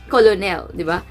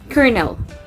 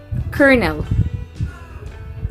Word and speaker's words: colonel: can read it as colonel colonel because of its spelling but the correct pronunciation of that word is kernel kernel not colonel but it's